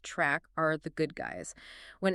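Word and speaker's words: Trk: The charch receptors spelled TR R K pronounced track are the good guys.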